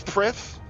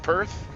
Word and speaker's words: Prith: Yeah, it's Prith, and I'm calling it Perth. No, it's not spelled like Perth.